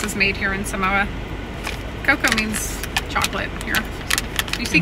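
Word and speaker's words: Koko: Coco means chocolate here. You see it means Coca. Cocoa everywhere. But K-O-K-O. Oh, that kind of cool. Cocoa. Yeah. It's just spelled differently, but it sounds the same.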